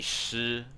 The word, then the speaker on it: Shifu: time they saw this, they pronounce it as she. That's why in Kung Fu Panda, they have this like Master Shifu, but it's actually Shifu.